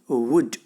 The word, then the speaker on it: would: देखिए वुड एक हम देखिए मॉडल में हम कैसे बोलते हैं, वुड, नॉट वुड, the real pronunciation is वुड, वुड। Okay, the लिप is close, वुड, the real pronunciation of द वर्ड वुड।